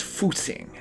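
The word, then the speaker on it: 复兴: and and called this that's pronounced fing and it means Rejuvenation roughly I've seen it translated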